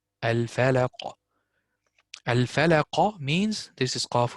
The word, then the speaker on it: الفلق: What I did not, I did pronounce the qaf, but I did not open the mouth.